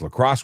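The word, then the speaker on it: La Crosse: It's Lacrosse. Okay, cool. No R. It's Lacrosse without the R.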